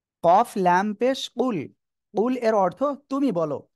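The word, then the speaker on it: قُلْ: বলুন আল্লাহ এক আর এই জায়গায় যদি আমরা কুল এমন না বলে যদি শুধু বলি কুলহু আল্লাহু আহাদ তাহলে উচ্চারণটা কি হয়ে যাচ্ছে উচ্চারণ শুনতে প্রায় কাছাকাছি কিন্তু উচ্চারণ ভুল হয়ে যাচ্ছে আর এই যে আমি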